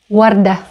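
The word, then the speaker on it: وردة: So we have, for example, the word Warda, Warda, Warda, which means flower. You can hear it starts with the sound W and that's the long vowel U, in this case pronounced as W.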